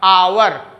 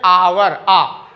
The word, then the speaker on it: hour: लेकिन ये देखिए ये अंग्रेजी का कॉन्सोनेंट है, लेकिन इसका उच्चारण हिंदी के वॉवेल में हो रहा, आवर, कैसे करेंगे? आवर, आवर।